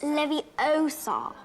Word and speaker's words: Leviosa: You're saying it wrong. It's Leviosa.